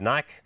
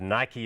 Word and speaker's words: Nike: that particular brand South Africans sometimes call it Naik but Nike is the way the americans pronounce it is of course named after one